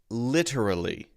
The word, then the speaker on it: literally: Sardar Sardar sorter so the pronunciation is literally Le tur uh Lee ter uh Lee four syllable word all right now a